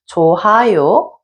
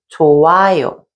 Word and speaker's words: 좋아요: The hyut 받침 does not produce any sound, so you have to think that it's not there and just go on to pronounce the next vowel. So, in this example, instead of saying 넣어요, we would say 넣어요. And instead of saying 좋아요, we say 좋아요.